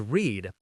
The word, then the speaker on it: read: In past tense, read stays read, but the pronunciation changes. It sounds like read.